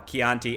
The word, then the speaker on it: Chianti: And like a Chianti, which I used to say wrong on purpose just to make people mad. But I'm saying it right now, Chianti.